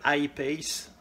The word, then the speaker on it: I-Pace: Pour le SUV Jaguar, quoi qu'on dise, il faut le prononcer à l'anglaise.